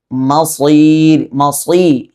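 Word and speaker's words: المصير: അതുകൊണ്ട് തന്നെ വബിസൽ മസീർ, മസീനോ മസീ ഇങ്ങനെ ഉച്ചരിക്കണം എന്ന് ചുരുക്കം.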